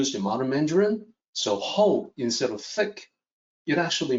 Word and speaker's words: 厚: see the opinion there the hou is pronounced like h o ho and then there's one